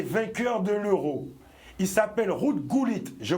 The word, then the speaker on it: Ruud Gullit: l'ancien joueur et vainqueur de l'euro il s'appelle route cool it je prononce exactement bien comme il faut ruud gullit étaient six de nationalité irlandaise néerlandaise ou allemandes